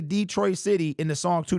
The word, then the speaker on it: Detroit: the word Detroit is Detroit it's French it was founded by some French dude back in 1701 or something like that